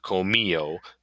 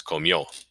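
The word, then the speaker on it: comió: you pronounce it not comio the accent's on the o so it's comio and then Vivir yo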